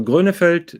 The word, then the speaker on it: Grönefeld: one at the moment so glunefield that is the the proper pronunciation those are two brothers